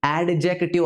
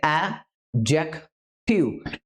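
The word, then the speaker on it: adjective: ನಾಲ್ಕನೆಯ parts of speech ಸರಿಯಾಗಿ pronounce ಮಾಡಿ ಅಡ್ಜೆಕ್ಟಿವ್ ಅಲ್ಲ ಡಿ ಬಿಟ್ಬಿಡಿ ಡಿ ಸೈಲೆಂಟ್ ಆಗುತ್ತೆ ಆಜೆಕ್ಟಿವ್ ಅಡ್ಜೆಕ್ಟಿವ್ ಅಂತ ಇದನ್ನ ಉಚ್ಚಾರ ಮಾಡಿ ಅಡ್ಜೆಕ್ಟಿವ್ ಏನ್ ಮಾಡುತ್ತೆ ಅಡ್ಜೆಕ್ಟಿವ್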